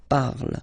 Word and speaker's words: parle: ending e, and then the way to pronounce it is je parle, parle. So remember, we put it, okay, but then we don't really pronounce it.